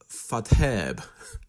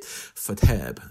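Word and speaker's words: Faidherbe: Fadherbe. That's almost certainly not how you pronounce it. Fadherbe sounds okay to me.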